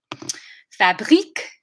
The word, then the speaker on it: fabrique: Fabrique, it's the I sound. And the k at the end is the main difference.